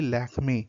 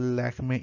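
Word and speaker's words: Lakmé: came goddess Lakshmi, and the French pronunciation of Lakshmi was actually Lakme.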